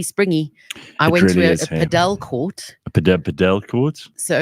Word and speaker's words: padel: But yes, apparently it is pronounced Padel, not paddle.